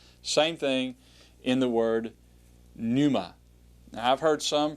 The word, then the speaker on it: pneuma: Same thing in the word pneuma. Now, I've heard some pronounce it. For example, Muntz pronounces that word as pneuma. He actually pronounces the P. Some say it's silent.